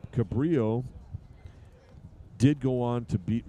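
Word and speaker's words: Cabrillo: for this conference C Cabrio did go on to beat Monterey Peninsula 8 to five so cabillo with u if you like to pronounce it with the L's 16 hits and seven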